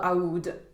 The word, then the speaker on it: Aoud: and it is taif ood so all of the oods are called aoud in the roja line which is more true to actually how you pronounce the name in arabic i'm not very good